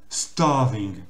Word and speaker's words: starving: Et donc là, le A ici, c'est plus important, il faut le prononcer de manière allongée. Donc ce qui nous fait starving.